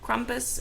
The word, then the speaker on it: Krampus: I'm gonna be talking about Krampus, and obviously the pronunciation might sound a little different than what you're used to, but I'm just going off the German pronunciation of it because She lived in